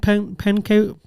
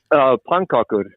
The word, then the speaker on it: pannkakor: Do you like flask and pancaka?